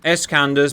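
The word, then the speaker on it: Iskander: And I find the next part of the battle is developing because we've had two escanders move into position and it is pronounced escander apparently by the way.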